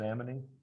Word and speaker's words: amine: How do you pronounce that? Amine?